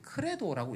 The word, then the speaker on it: Credo: C-R-E-D-O를 크레도라고 읽는데 저것은요.